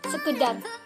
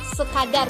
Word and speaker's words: sekadar: Pasti kalian mengira sekedar, karena banyak orang yang mengucapkan sekedar, padahal kalian itu salah. Dalam kamus besar bahasa Indonesia itu kadar merupakan kata dasarnya. Kalau kalian mencarinya sekedar kedar, pasti nggak ada keluar. Tapi kalau kalian menulisnya kadar, itu pasti keluar. Tapi yang benar tuh sekadar, bukan sekedar ya teman-teman.